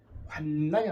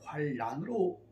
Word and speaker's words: 환난: 환난이 아니라 환란, 국의음화를 통해서 제가 이제 구를 잘 모르는데 쓸 때는 환난이라 쓰고 읽을 때는 환란으로 발음하여 주시면 좋겠습니다.